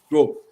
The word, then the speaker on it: Drouot: How do you say that in French? Drouot.